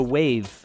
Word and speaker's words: Wavve: And Headliner's really great, and also Wave, which is spelled with 2 V's, WAVVE.